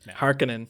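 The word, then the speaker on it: Harkonnen: har Conan and the not not Harin anymore it's Harkin harinen yeah we've been saying it wrong our entire lives yeah so harinen the correct Finnish way to say it I guess so hekinan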